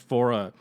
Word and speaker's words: Faure: I really recommend checking out his anthology and uh pronounced fora which you can you can find those on like streaming sites and on iTunes and I I highly recommend those.